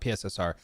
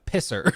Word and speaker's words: PSSR: Also, I think we should pioneer the pronunciation, not PSSR. It's Pisser.